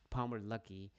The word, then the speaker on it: Palmer Luckey: Lucky, how do you say his name? The CEO of Anduril, Palmer Luckey.